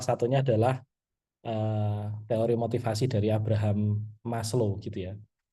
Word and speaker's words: Abraham: Dan cara bacanya Abraham ya, nggak boleh Abraham gitu ya. Karena dulu Maslow pernah marah gitu ya, ketika pas di berbagai konferensi dia namanya dibacanya Abraham. Loh, kan itu emang standar bahasa Inggrisnya bacanya Abraham. Enggak, bacanya Abraham. Kenapa? Karena itu adalah bahasa aslinya sebagai keturunan Yahudi gitu ya.